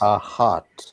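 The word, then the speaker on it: אחת: in the feminine numbers a heart a heart nice a hot exactly right Stephen well done one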